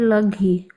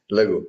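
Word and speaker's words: laghu: You said laghi. Hmm? You said laghi, not Oh, lag. sorry. Lagu.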